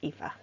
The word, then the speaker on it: Aoife: hi it's Aoife here I'm just gonna give you some background on me and introduce my thesis project yeah just ignore the spelling it's pronounced Aoife I was born in Ireland and I come